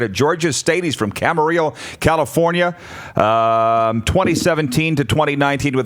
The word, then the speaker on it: Camarillo: Camarillo. Camarillo. Gotcha. The Spanish pronunciation.